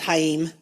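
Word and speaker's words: Chaim: po I know but the first name is hayim so so I suspect he's Jewish or is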